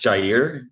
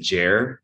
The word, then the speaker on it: Jair: oh that's great yes it's pronounced jair um it's actually jair um I'm Mexican so jaida is the proper pronunciation and then I mean jair however in I think just throughout like my life in high school and just I don't know how it started people just said Jer it was just kind